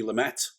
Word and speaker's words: Lumet: saying it right um i always think lou may sounds nicer though you know it's like yeah continental it's it's softer isn't it it's got that more sort of francophile uh pronunciation but anyway sydney lumet lumet